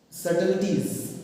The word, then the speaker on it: subtleties: Okay, and mouth with myriad subtleties. Okay, the spelling is SUB, but B is silent here.